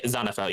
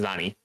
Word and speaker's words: Zanifel: Now, today on the final hour, we have Zanifel. Is that how you say it? Yeah, Zanifel, yes. Zanifel. And then, okay. Yeah, Zanifel, and then if the shortened version is Zani.